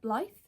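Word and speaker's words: Blythe: So I think this one sort of centers around I think I'm saying it right. Ble. B L Y T H E. Ble. Ble. No, it's got to be Ble.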